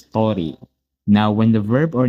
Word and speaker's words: とおり: Now you might be asking why sometimes it's pronounced as tori and sometimes dori. When you're using the no particle after a noun, it is tori.